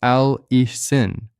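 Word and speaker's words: allicin: A l i c i n pronounced al ein.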